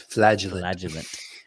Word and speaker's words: flagellant: The word is flagellant. I Find loved out how they all pointed this that out stuff- too, because yeah. they kept on saying it wrong.